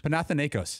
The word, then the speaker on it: Panathinaikos: Who practiced how to pronounce the team that Rick Pitino's coaching? Paulie? Panathinaikos? Panathinaikos.